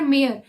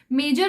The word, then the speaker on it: mayor: क्यू क्या बोल रहा है, आर मेयर, मेजर साहब नहीं बोलते जैसे मेजर, तो मेजर की स्पेलिंग MAYOR लिखते हैं।